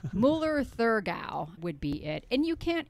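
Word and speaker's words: Müller-Thurgau: It's Müller Thurgard. I always forget how to pronounce. Müller Thurgau would be it.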